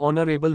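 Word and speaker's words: honourable: underscore underscore underscore underscore ऑनरेबल मैन एन एच is silent sound starts with O वाव 40 प्रपजीिशन she died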